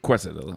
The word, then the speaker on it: quesadilla: Quesadilla. It's not called. Quesadilla. It's not armadillo.